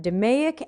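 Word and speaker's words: DMAIC: lean six sigmas d-m-a-i-c i know some people pronounce that demeac and d-m-a-d-v i'm not sure how you'd pronounce that de modvi i don't know but i've heard dumaic said before lean six sigma's model for improving something that does exists is demaiock define measure analyze improve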